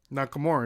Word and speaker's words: Nakamura: more how do you say say his name Nakamura he's saying it perfect shinsuke shinsuke yeah that's